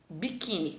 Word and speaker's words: biquíni: Aqui eu tenho a palavra biquíni, né? Biquíni, ok. Biquíni, tá? Biquíni, tá? Aqui seria a minha última sílaba, biquíni, ó, a tônica tá aqui e aqui seria a última.